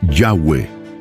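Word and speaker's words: Yahweh: Y Dios se presentó con su pueblo Israel con el nombre Y H, cual pronunciación es Yahweeh y su traducción al español, yo soy el que soy.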